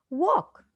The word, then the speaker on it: walk: So the silent letter is K. Wrestle, W. Walk, L.